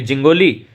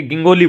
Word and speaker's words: जिंगोली: अब जो विद्यार्थी इस जी का उच्चारण जय करते हैं वो इसको बोलेंगे जिंगोली, और जो इस जय का उच्चारण गय करते हैं वो इसको बोलेंगे गिंगोली बोलेंगे।